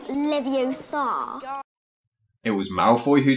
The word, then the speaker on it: Leviosa: someone's eye out besides you're saying it wrong it's Leviosa not Leviosa it was Malfoy who